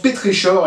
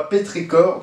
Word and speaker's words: pétrichor: Apparemment ça se prononce pétrichor et pas pétricor, donc je vais dire pétrichor.